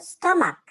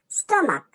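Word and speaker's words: stomach: শেষে সিইচ বসেছে কিন্তু সি এইচ এর উচ্চারণটা ক এর মত মনার্ক মনার্ক মানে মানে হচ্ছে রাজা।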